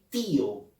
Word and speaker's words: tío: día y o nadie dice tío todos decimos tío la letra o la vocal y la pronunciamos con mayor énfasis es abocar es cerrada